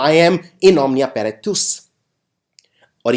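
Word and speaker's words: paratus: Next है इन Omnia पैरातूस। इसमें जो ये TUS है, इसको टस नहीं टूस हम प्रोनाउंस करते हैं।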